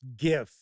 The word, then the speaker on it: GIF: And that's why I pronounce GIF, because it's spelled with a G.